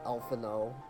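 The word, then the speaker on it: Alphinaud: Such a weird way to say his name, Elfino. That is not how it's spelled at all. Elfino. Like, A-U-D is apparently O. What?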